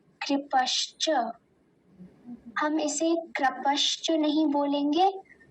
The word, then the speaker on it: कृपश्च: इसमें ककार के नीचे ऋकार है, तो हम उसका ध्यान देंगे। तो वैसे तो ये आसान ही है, कृपश्च।